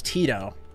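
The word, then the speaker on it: Teadoh: think his name was Tito do you guys know what map I'm talking about Tito te t e a d o h like it's spelled like that he has like a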